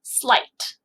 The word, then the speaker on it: sleight: But every once in a while, it makes the long I sound, like in this word, sleight, like the sleight of hand the magician used in playing a trick on me.